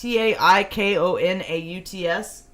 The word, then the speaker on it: taikonaut: Taikonauts. Chinese ones are taikonauts? Yeah. You sure that's how it's pronounced?